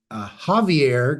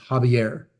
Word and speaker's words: Javier: name and uh but I've been saying Javier Gard desal for 15 years and I at least learned today that it is habier uh that said you